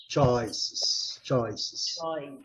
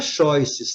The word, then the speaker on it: choice: Choices. Gente, nunca choices, tá? É choi, não. É choi. Choi. Ok? CH tem som de che.